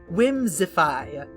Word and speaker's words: Whimsipae: Whimsify. That's how it's pronounced, but it's spelled Whimsipae. Whimsify.